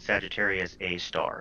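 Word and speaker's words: Sagittarius A*: massive black hole called sagittarius a star spelled with an asterisk pronounced like a star and we've actually known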